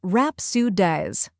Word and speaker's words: rhapsodize: First, we have R-A-P, which sounds like the rap in rap. Next is Sue, which sounds like the Sioux in sun. Finally, diz, which rhymes with wise.